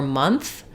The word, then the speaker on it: month: So basically you're probably opening your mouth too much. So when you're saying month or monthly, you're probably doing a little bit more monthly.